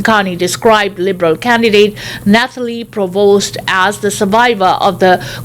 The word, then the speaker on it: Provost: the liberal leader also called provos by the wrong name adding a syllable to her family name calling her pronovost instead Carney defended himself Wednesday